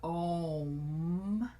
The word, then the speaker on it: Om: all know the Mantra om and it ends with a M so it's an a-u-m sound is how they say it but if you want